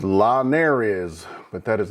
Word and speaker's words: la nariz: the I in ski, the Z has an S sound, and again, the R has kind of a soft D sound.